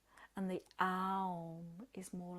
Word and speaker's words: Aum: Okay, so this is you continue with this motion, and you're going to chant the mantra Aum, but we're going to split it into 3 syllables. So it's A, O, So think of that as you chant it.